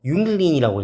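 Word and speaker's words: Jüngling: 그래서 진짜 청소년이나 청년은 뭐라고 부르냐면은 윤글린이라고 읽어요. 조금 발음이 어렵습니다.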